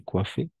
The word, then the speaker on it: coiffer: C'est coiffer. Qu'est-ce que ça veut dire, c'est coiffer? ¿Cortarse? Oui, c'est coiffer les cheveux. Coiffer. O-I siempre va a ser wa.